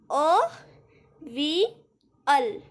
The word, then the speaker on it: Avial: एज यू कैन सी यहाँ पे normal spelling लिखी है एंड आप इसकी प्रोनाउंसिएशन सही करो, दैट्स वाई उन्होंने यहाँ पे आपको वर्ड्स के साथ भी दिया, लाइक अवियल, अवियल.